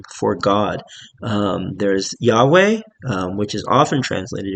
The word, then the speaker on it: Yahweh: in Hebrew um and this is Yahweh pronounced probably pronounced something like Yave um by the by the ancient um Israelites and the the writers of these documents.